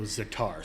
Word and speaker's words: za'atar: So za'atar, spell that for Za'atar. us. So it's Z-A''ATAR. Oh, so like Za'atar.